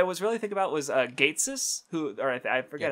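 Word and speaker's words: Ghetsis: like what I was really thinking about was Gatesis, who, or I forget how to fucking pronounce his name. Or yeah, I think it's what was that? Getsis. Getsis.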